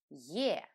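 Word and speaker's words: Е: This letter is pronounced in two different ways. When it is at the beginning of the word or after another vowel, we pronounce it as Ye, just like the name of the letter. But in all the other positions, we pronounce it simply as E.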